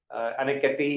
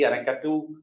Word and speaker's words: Anicut: And in South Indian names, like Anicut is pronounced with little bit of Anikati, Anikatu, but like I think it's one and the same in South Indian languages.